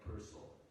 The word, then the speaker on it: Purcell: his, he'd invited Frank Purcell. Like the composer, he invariably said, on being introduced, in case someone might mistakenly put the accent on the second syllable.